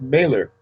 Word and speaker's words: Mehler: i'm doing fine and the last name is pronounced mailer baylor not milo yeah mailer okay mailer my my apologies no